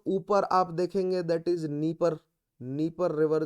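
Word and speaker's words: Dnieper: दो इनके नाम डी से शुरू हो रहे हैं बट डी को प्रोनाउंस नहीं किया जाता। नीपर रिवर, अगेन ब्लैक सी।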